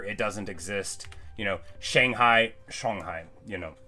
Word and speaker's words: Shanghai: It's not Shang, it's never ang. Nothing rhymes with bang is what you learn in Chinese history class, right? It's the only thing I know is if it rhymes with bang, I'm saying it wrong.